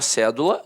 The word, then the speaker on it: cédula: Aí, a palavra cédula, notoriamente, é uma proparoxítona. A sílaba tônica está na antepenúltima sílaba.